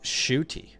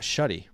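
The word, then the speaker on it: Shough: Badaki, I regret to inform you that it's actually pronounced Shooty, not Shuddy. So we're going to have to start saying Shooty now. That's our bad. We just assumed it was Shuddy.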